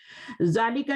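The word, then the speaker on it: ذٰلِكَ: जालिका is pronounced जालिका but it is written without alif.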